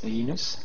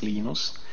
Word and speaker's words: Linus: i speak swedish it's genus when i speak finnish it's linos when i speak english it's linus and i really don't care